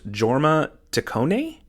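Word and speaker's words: Jorma Taccone: was the director I believe his name is pronounced Jorma tone Jorma tone which is it's funny because when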